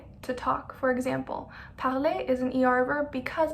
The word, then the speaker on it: parle: Vous parlez. Remember, we don't pronounce the Z. It's parler, vous parlez. Vous parlez. And il, elle parle. No parlant, no, it's just il, elle parle.